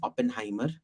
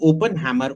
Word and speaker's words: Oppenheimer: are him foreign why can't Indians pronounce Oppenheimer they're all saying open Hammer open hammer and every time open hammer can't you see there's a e i in between them best case scenario